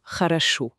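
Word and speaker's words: хорошо: C'est pour ça que haaracho qui s'écrit avec trois o se prononce plutôt haracho. Voilà. Le prier O devient a le deè aussi. Et seul le dernier O, celui qui est accentué et prononcé pleinement e.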